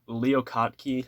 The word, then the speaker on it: Leo Kottke: Leo Kottke, I believe is how it's pronounced.